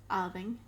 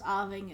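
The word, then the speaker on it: abhainn: my mind is um aaving or avon um which means river so it's arving and scottish garlic now irish they tend to pronounce something like owling um and then in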